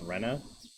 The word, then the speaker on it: Rena: you literally pronounce it Rena oh I think I know okay Plum told me there's some significance into how Rena spells her name it's not supposed to be Raina it's Rena yeah I think this